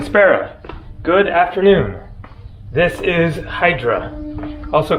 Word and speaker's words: Hydra: are in Greek so here the spelling looks like Hydra they pronounce it more like idra Santorini is actually Sarah